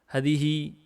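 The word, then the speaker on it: هذه: Hadihi, ini bacanya haknya dipanjangkan, alifnya dihapus.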